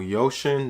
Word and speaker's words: Uxin: so today we're going to be talking about yoshin that is the correct pronunciation thank you guys for pointing that out